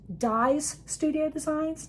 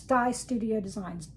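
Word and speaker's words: Di's Studio Designs: And it's it's it's uh pronounced Dyes Studio Designs, not D or this. I just thought I'd die apostrophe s die studio designs.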